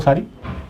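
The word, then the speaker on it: Tso: और सो car wetland, इसको सो कहते हैं, टी साइलेंट है इसमें, है ना, तो ये भी लद्दाख में पाई जाती है।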